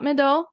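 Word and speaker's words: Médoc: sub regions here hot Mido mid which is m e d o c I'm not pronouncing the C because I don't think you're supposed to and grvs so these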